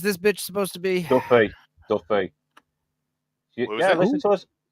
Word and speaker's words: Duffy: name is Duffy.